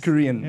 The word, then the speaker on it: Kurien: this show today is kurin am I saying it right Korean yes Korean okay cool welcome to the